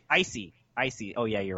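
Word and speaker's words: l'Cie: What's the proper pronunciation? Icy.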